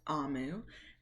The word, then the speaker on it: Omu: in here that says Oh Moo is actually pronounced a Moo and it's the Igbo term for Queen so